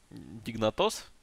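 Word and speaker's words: Dignitas: Дигнатос? Дигнатос. Почему не Дигнатос? В смысле? А не Дигнатос. Почему через А? Ну, читается так, ударение не на эту букву, поэтому оно читается как А.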